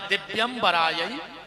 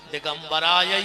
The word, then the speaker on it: दिव्यंबराय: शुद्ध उच्चारण है दिव्यंबराय च दिगंबराय, और आदमी जल्दी जल्दी में बोलत है दिगंबराय च दिगंबराय। दोनों बार दिगंबर दिगंबर कहता है।